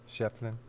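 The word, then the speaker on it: Schieffelin: Is it just Shefflin? Shefflin. Yeah, is that just how you pronounce it? Shefflin. Yeah, Shefflin.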